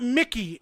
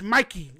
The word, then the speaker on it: Mikey: Are you It's not Mickey. It's Mikey. There's no C.